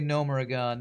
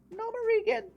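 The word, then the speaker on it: Gnomeregan: A real gnome would know how to say Gnomerigan, not Gnomerigan. Getting more frustrated by these voice actors every time I hear them mispronounce Gnomerigan.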